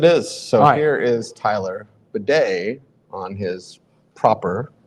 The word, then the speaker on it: Badie: uh yes it is so here is Tyler Beday on his proper pronunciation although we know what the first question